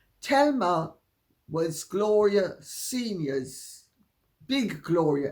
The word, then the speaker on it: Thelma: an identical twin called Telma not Thelma Thelma it's spelled Thelma but pronounced in the Spanish way Telma was Gloria seniors big